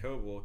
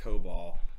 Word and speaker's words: Kobal: My Twitter is at Kobal, KOBAL. Mine is at Gabe H. Journalist. If you find one of us, you'll find all of us. Yeah, more or less. And it's not pronounced Cobal.